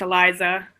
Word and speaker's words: Alysa: North Carolina yeah and my name's pronounced Eliza oh Eliza I'm sorry it's okay